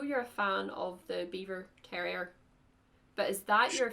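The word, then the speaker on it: Biewer: not sure what a beaver terrier it's spelled b-i-e-w-e-r not beaver like the animal uh it's mr and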